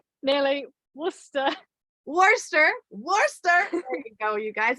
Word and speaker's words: Worcester: the way out of the UK out of War Chester wait did I say it right nearly Worcester Worcester Worster there you go you guys if you have